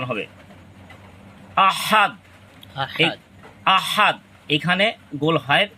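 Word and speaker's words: أحد: হামজা এইখানে লম্বা হা মূলত দালের সাথে এটাচ উচ্চারণ হবে আহাদ আহাদ এখানে গোল হায় এর উচ্চারণ করা যাবে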